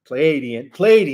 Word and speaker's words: Pleiadian: And included in that is the Andromedan Council, the Pleiadian, I think I said it right this time, Pleiadian, there we go, High Command, that have long been monitoring the Earth's situation, okay?